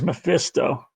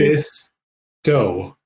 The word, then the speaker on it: Mephisto: I can't believe Mephisto. 3 syllables.